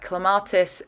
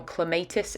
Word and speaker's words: Clematis: This is the Paint a Flower Clematis Josephine, or Clematis Josephine, depending on how you like to pronounce it, and I'm going to